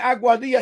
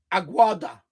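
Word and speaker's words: Aguadilla: So, there's certain towns he called it instead of saying Auadia, he said Auada. He was way off cuz I know it's Auadia.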